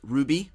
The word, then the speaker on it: RWBY: on a popular anime called Ruby or RWBY as it's spelled kind of strangely as you can see